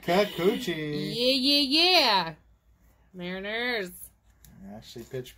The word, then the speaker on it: Kikuchi: You say Kikuchi.